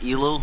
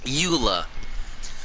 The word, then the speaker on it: Eula: that's her name but i always said it wrong by accident because i kind of read it as elo instead of luila what eula there we go it's